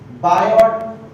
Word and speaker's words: Biot: सबसे पहले जिस साइंटिस्ट ने बताई थी वो थी बायोट सावर्ट्स लॉ, ठीक है भाई? इसको टी साइलेंट होता है, बायो सावर्ट की कहा जाता है।